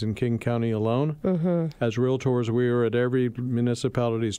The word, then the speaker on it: Realtor: have a trademarked moniker called realtor two syllables ladies and gentlemen not realtor so real tours are